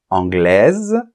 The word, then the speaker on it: anglaise: la lettre S finale anglaise on va prononcer la lettre S et le E est